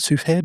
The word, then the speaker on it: Cuphead: Um he's done music for I don't know if you pronounce it suhead or Cuphead. Oh Cuphead.